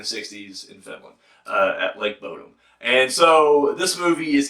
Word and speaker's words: Bodom: Up next, and I hope I'm saying this right, we got Lake Bodom. Did I say it right? Bodom.